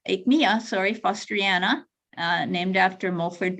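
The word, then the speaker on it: Aechmea: pere david um magnolia fraserai john fraser and ikma akmiya sorry fosteriana named after mulford bateman foster so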